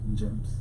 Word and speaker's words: Njemps: It's called, how can you spell that? NJEMPS. Gems. Yeah.